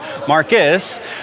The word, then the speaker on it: Marquis: Because it's written as Marquis, but it's pronounced Marcus.